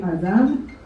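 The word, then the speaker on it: אדם: Adam, in English they call it Adam, but the proper pronunciation from the Torah, from the Bible, is actually Adam.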